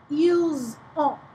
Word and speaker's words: ils ont: Ils ont. Ils ont. So you get to say that S there. Ils ont, elles ont. Ont is how you say that.